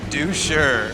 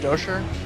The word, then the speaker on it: Doucher: And the doucher. Actually, it's pronounced Dosher, as in I'll make you dough for sure.